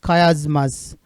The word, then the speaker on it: chiasmus: इसका प्रोनाउंसिएशन थोड़ा अलग है, दैट इज खयाजमस।